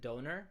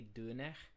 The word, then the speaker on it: döner: pronunciation, it should be dun. So like the R is more like a Frenchy kind of R. It's more rasped.